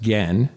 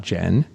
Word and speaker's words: Gen: So a character, the translator, whose name is spelled Gen, is pronounced Gen, not Jen.